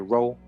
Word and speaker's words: rho: for the Greek letter rho. All right, this is deep right here, which is pronounced like a row, a boat.